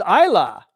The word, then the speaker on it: Isla: Oh, pronounced Isla. Oh, okay, but you're spelling it Isla, dude. You understand? For the rest of this girl's life, people are going to be calling her Isla. Okay, as long as you realize that it's pronounced Isla.